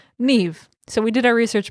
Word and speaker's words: Niamh: it is actually pronounced Niamh. So we did our research before we started. Well, thankfully it's like an actual Irish name and not some just like random conglomerate of letters that are hard to pronounce.